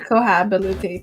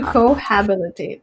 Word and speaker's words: cohabitate: worth my my the time and effort to cohabilitate to them to cohabitate to cohabitate and feel like i'm saying that